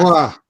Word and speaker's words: Beauvoir: Uma é Simone de Beauvoir, não sei se eu pronunciei correto, é uma filósofa francesa, e ela fala o seguinte: "Não se nasce". Beauvoir, Beauvoir, Beauvoir.